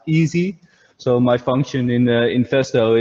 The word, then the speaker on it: EASI: my department is is written like e-a-s-i which is pronounced easy so my function in